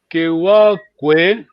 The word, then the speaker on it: Kewaukoe: Kewaukoe, yes, but in terms of pronunciation, we just say Kewakwe, yes.